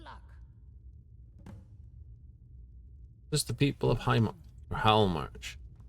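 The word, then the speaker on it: Hjaalmarch: Just the people of Halmarch. Yalmarch. Usually the H isn't pronounced. Sometimes it's the J. Either way.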